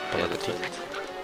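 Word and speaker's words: bon appétit: You don't pronounce the last T. Bon appetit.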